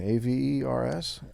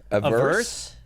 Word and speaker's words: avers: A-V-E-R-S? A verse? No, it's avers.